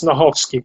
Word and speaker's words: Snochowski: Almost. C is silent, so it's Snochowski.